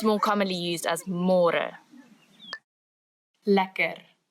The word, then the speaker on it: lekker: Lacquer. Lacquer.